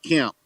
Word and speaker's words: Kemp: We're going with old GW Kemp. GW Kemp, are you paying attention? G.W. Kent? Kemp, like walking with a limp. Kemp. Oh, Camp. Yes. K-E-M-P.